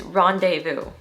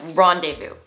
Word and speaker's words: rendezvous: word is really fun it's actually another word that is derived from french origin so us americans kind of just adopted this word for ourselves do you